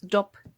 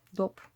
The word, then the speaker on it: dop: The dop, it's dop in Dutch, dop, and I'm pronouncing it like it's English.